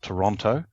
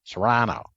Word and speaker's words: Toronto: I lived up in Toronto, and that's when the people told me, this is how you pronounce it, because I went there calling it Toronto. I said, nah, Toronto.